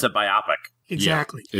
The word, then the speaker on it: biopic: Well, it was meant to be two words, biopic, a biographical picture.